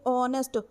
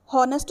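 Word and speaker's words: honest: इसको बोलोगे कैसे, ऑनेस्ट। हॉनेस्ट तो नहीं बोलते ना, एच साइलेंट होता है, ऑनेस्ट, ओ की साउंड आती है ना, ओ की, तो यहाँ पर क्या आएगा, एन आएगा।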